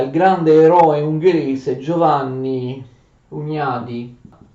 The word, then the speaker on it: Hunyadi: Giorgio Branković si mette a disposizione dell'Ungheria e di Giovanni Hunyadi, anzi in ungherese si pronuncia Hunyadi, di Giovanni Hunyadi, per le sue iniziative militari, per un'offensiva.